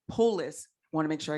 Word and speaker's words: Polis: excited we have the governor of colorado jared polite polis i want to make sure you pronounce it correctly will be joining us he